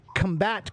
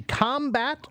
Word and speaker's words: combat: So like the word combat. Combat can be combat or combat. They both correct. They have different meanings. So combat, if I put the accent on the first syllable, combat means fighting, right? It's noun. It's a noun. But if I say to combat is a verb of fighting, right?